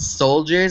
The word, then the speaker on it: Soldiers: So one of them is called Soldiers. It's spelled SOLEDIERS, and I'm donating gift cards